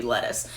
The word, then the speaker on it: Lettice: Now it is spelled in a way that it could be pronounced Lettice, but I declined to take that option, and her name's just gonna be Lettuce.